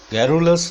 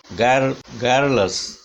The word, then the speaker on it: garrulous: garrulous नहीं है, this is not o sound, this is a sound of weak sound of a, this is a sound, ga as in bad, garrulous, garrulous।